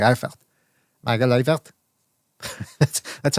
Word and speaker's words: Eifert: I think it's Eifert, because Bray pointed out on the Discord, and this was true, I think, that the zone commentators kept referring to Eifert as Eifart.